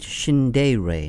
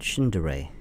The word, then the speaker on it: Shindaerey: in the world and she pronounced it shinde Rey not shindare okay so we'll we'll pronounce it that way the way to shindeering